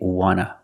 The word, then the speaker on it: want to: So we don't pronounce the T and we say wanna, wanna. I just wanna eat. Want to or want to, you can pronounce it wanta or wanna. Both pronunciations are correct.